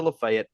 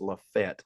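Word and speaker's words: Lafayette: 5- one in area play they fell to lefet uh or we got to say it right as we learned in football a few years ago it's LEF Fett not lefet it's Le Fett like l a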